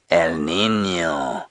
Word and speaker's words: El Niño: as a result of El Niño, which of course is a weather pattern that comes through these areas, and you have to say it like that, otherwise it just doesn't sound right, does it, Willem?